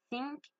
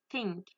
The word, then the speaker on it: think: La première, je l'ai mal dit, parce que j'ai pas mis ma langue entre mes dents. Et la deuxième, j'ai mis ma langue entre mes dents. Du coup, j'ai réussi à la prononcer. Donc, on entend bien la différence entre think, think.